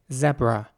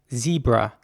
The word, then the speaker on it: zebra: would be more like zebra so the e at the beginning would be pronounced once again like an e sound a quite long e as well zebra here's an example